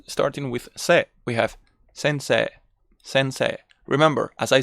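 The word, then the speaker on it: 先生: sensei it's sensei sensei notice how what i do is to enlarge this last e e so we it's like 2s sensei sensei sensei that's what they call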